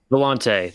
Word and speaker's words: Volante: How do you pronounce it? The Volta? For some reason, I was thinking it was a longer word than that. What? The Volante? Volante. That's it.